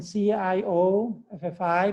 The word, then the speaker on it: Cioffi: And just like my name is written C-I-O-F-F-I, but it's pronounced Cioffi, right?